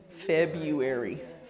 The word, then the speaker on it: February: say the word right so remember this is silent yeah February February actually last night we